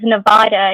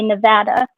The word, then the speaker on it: Nevada: just like if if anybody in Nevada says Nevada you know they're not from there because all the locals say Nevada like me Michigan but Mig I think all